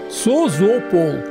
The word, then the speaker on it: Созопол: выехали в город созополь по-болгарски произносится без мягкого знака sozopol созополь находится в тридцати